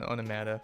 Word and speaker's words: onomata: Midge so it's hurt you mispronounced my faction onomata on the Mata on the matter This Is War you know all right please everyone call that faction onomata from now on flavor Town donated 50 bucks